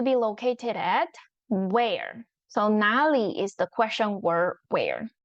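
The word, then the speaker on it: 哪里: The one in front of it need to pronounce as second tone. So it becomes 哪里.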